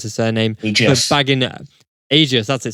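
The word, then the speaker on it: Agius: I just want to give a big shout out to Senna Angus. I can never pronounce his surname. Aegis.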